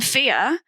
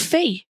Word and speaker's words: Fia: and i'm like ben whereas i'm fear and i would get called fee yeah and i'm like three letters two syllables i don't understand how